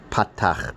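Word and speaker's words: פתח: So A as in father, ah. It's called a patach, means open. Open your mouth and say ah.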